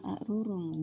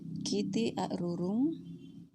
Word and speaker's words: arurung: Sehingga dalam pelafalan kiti arurung, tulisan lontaranya adalah kiti aruru.